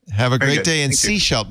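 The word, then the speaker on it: Sechelt: Have a great day in Seashelt. Now I know how to say it. Yes. Seashelt. Seashelt. You're right. When I look at the spelling, it looks like Sahel.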